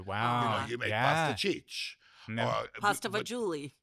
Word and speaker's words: pasta fagioli: Pasta fagioli. Pasta fazool.